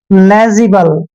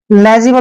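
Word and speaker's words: legible: मात्रा पढ़ते हैं और जी आई का उच्चारण हम जी करते हैं ऐसे लेजी और बी को हमने ब पढ़ना है एल ई को ल पढ़ते हैं लेजिबल लेजिबल होता है साफ सुथरा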